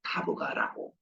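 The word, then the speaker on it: Tabgha: 거기가 바로 타보가라고 현지 발음으로 얘기하더라고.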